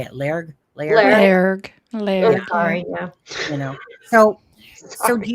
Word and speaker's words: Lairg: Lairg.